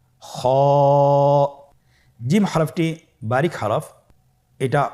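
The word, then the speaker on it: خاء: খ হরফটির মাখরাজ হলো কণ্ঠনালীর শেষ ভাগ হতে উচ্চারণ করতে হয়, কণ্ঠনালীর শেষ ভাগ। আপনারা আমার সাথে বলুন খ।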